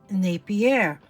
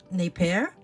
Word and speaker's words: Napier: my vintage jewelry sale showcasing Napier okay that's how I pronounce it some people say Napier I don't know anyway this is what